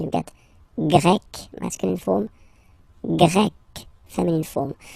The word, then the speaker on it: Grec: get Grec, masculine form, Grec, feminine form. You write them differently, but then, if you listen carefully, Grec, Grec, you pronounce them the same way, okay?